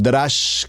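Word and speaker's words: דרש: lo lo estoy pronunciando remex seguidamente tenemos el drash como lo estoy pronunciando d r a s h drash y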